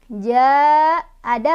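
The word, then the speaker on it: جَاءَ: Karena ja'a itu hamzahnya tuh ada dalam 1 kalimah dengan ja, ya, dengan mad tobi'inya. Makanya cara bacanya dipanjangkan, boleh 4, boleh 5 harokat, ya.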